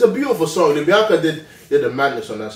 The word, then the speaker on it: Libianca: I loved the Libianca's voice. Is that how you say her name? Libianca, yeah.